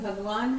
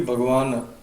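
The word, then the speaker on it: भगवान्: But Bhagwan has a na, has a halant? In Sanskrit, no. No. Sanskrit will be Bhagavan.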